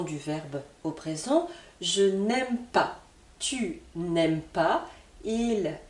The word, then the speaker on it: n'aime: Pour la forme négative, ce sera la même prononciation, mais attention, cette fois-ci, j'ai un N supplémentaire qui correspond à la forme négative. On n'aime pas.